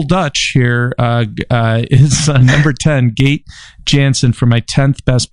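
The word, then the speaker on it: Gaite: it's GA ite but it's pronounced gate it's a Dutch name move she is awesome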